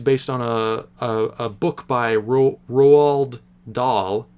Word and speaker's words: Roald Dahl: It seems, because this movie's based on a book by Roald Dahl, that's how you say his name.